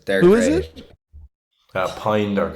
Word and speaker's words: Pijn: Pine is PIJN. Yeah. It's spelled like pigeon.